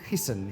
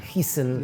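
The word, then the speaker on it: Giesen: And this was a How do you pronounce it? Hesen. Hesen.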